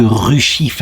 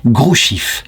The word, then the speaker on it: Hrushiv: Alors en me renseignant mieux sur internet, je vois que Ruchif, ça se prononce en fait Grouchif.